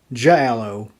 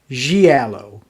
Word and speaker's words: giallo: from eastern kentucky about how to pronounce something giallo i think that's right g alo films not shallow or j alo giallo so we're going to